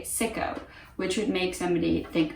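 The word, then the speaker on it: Sicco: it is also used i believe they would pronounce it siko but the way that i would pronounce it as a native english speaker if i was outside of the netherlands or outside of germany i would say sicko which would make somebody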